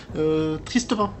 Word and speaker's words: Tristepin: Mais en fait, c'est comme si vous m'avez fait un pain qui est triste, Tristepin tout attaché.